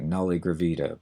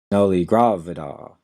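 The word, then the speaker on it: nulligravida: a v d a it looks like Nolly gravita but it's noly gravida and this refers to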